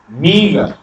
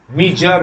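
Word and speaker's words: meagre: মিগার, মিগার উচ্চারণটা হচ্ছে মিগার, মিজার নয়, মিগার। এটা কি? মিগার মানে কি? একটু হলে আর এর উচ্চারণ নেই, আর এর উচ্চারণ নেই, মিগার, মিগার, মিগার এটা উচ্চারণ।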